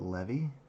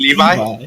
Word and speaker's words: Levy: Oh, you're pronouncing it Levy? Okay. Levy. That changes the entire campaign. Hold Sorry. Were you thinking Levi?